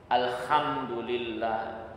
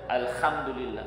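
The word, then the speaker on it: الحمد لله: Ketika bermakmum pada orang yang alhamdulillah, emang ada banyak orang kita kayak gitu. Alhamdulillah, ha itu dibacanya kha. Ya, alhamdulillah. Karena harusnya alhamdulillah, alhamdulillah. Tapi dia nggak bisa kayak gitu. Itu mengaruhi arti.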